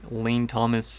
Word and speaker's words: Lane Thomas: walker johnny jones or jamae jones and it's pronounced lane thomas and that is it so i think they